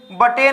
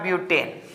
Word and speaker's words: ब्यूटेन: Carbon है, तो सर बटेन हो जाएगा, तो बटेन नहीं होगा। मैंने बताया है प्रोनाउंसिएशन आप लोगों को कि बट नहीं पढ़ना है, ब्यूट पढ़ना है, तो हो जाएगा ब्यूटेन।